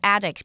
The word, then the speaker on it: addict: 丧子的经历让他能更理解有同样伤痛的家庭。接着我们看到一个名词 addict，指成瘾者、入迷的人。像是 I think Tina is a chocolate addict because she eats it all the time. 我认为 Tina 是巧克力成瘾者，因为她总是不停地吃巧克力。另外，这个字也可以当动词，当动词时念作 addict，指使沉溺、使成瘾，常用被动式，后面接介系词 to。